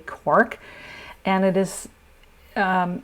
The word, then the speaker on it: Quark: traditional recipe uses quac I'm pronouncing it the German Way quar quu a r k quark and it is um